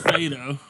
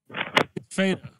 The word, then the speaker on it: Fedor: It's pronounced Fado, according to a Bellator commentator. Fado. I was right. The R is silent.